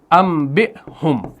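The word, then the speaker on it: أَنْبِئْهُمْ: کو پڑھا جائے گا انبئہم، یعنی اس کو ہم میم سے تلفظ کریں گے. حالانکہ ہے کیا؟ حالانکہ نون ہے.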